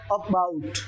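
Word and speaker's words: about: Sound की अगर बात, अबाउट अबाउट अबाउट अबाउट, ए बोला नहीं जा रहा है, कम बोला जा रहा है, और बाउट पे उसने स्ट्रेस ज्यादा लगाया है।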